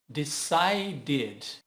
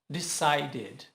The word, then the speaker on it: decided: Decide. Embora termine com E, ele é mudo, então terminou com o som de D. Acrescenta, então, um D e o som fica id. Decided. Decided.